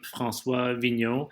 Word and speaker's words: François Vigneault: the the the instagram uh at my name francois vigno and i'll spell it because it's one of those annoying names